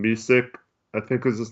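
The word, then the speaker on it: Micić: And they also gave up the rights to, I don't know how to say his name, Misic, I think is his name. Misic. Isn't it like Messick? It's Micic. Oh, Yeah, but I don't know.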